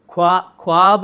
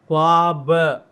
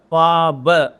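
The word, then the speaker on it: ख़्वाब: ये हिंदी वाला ख है, ये अरबी वाला फारसी वाला ये है ख्वाब। ख्वाब नहीं, ख्वाब, ख्वाब।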